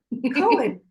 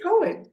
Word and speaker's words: Cohen: Cohen. Cohen. Why did I pronounce the H? What was I thinking? I don't know. Violet Kim. The H is silent.